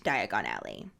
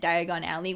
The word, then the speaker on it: Diagon Alley: in the movie it never clicked for me that diagon alley was diagonally until my husband pointed